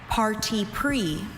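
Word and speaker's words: parti pris: Your word is party pre. May I have all the information? Party pre is the only pronunciation.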